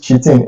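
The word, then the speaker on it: chitin: or Q10 or something but I pronounce it cheating it's spelled c-h-i-t-i-n now assaults like phosphates and carbonates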